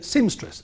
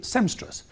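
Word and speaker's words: seamstress: it can be medicine I say sim stris and it can be SEM stris one letter regular viewers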